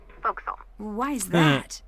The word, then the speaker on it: forecastle: ship, but it's pronounced forecastle. Why is that? Try pronouncing it like an English sailor with no formal education.